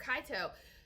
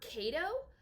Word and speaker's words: Kaito: But then anytime she would pronounce, like, if his name was spelled out, Emperor Kaito, she would call him Emperor Kato. And it bothered me.